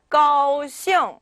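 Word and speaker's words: 高兴: 우리가 ing 같은 경우에는 네, 아직 발음표에 등장하진 않았어요. 그런데 무언가가 붙어있고 ing가 있다면 이때는 그냥 잉이 아니라 이응이라고 해서 약간 비음을 내주셔야지만 좀 더 중국어 같은 그런 자연스러운 발음이 됩니다.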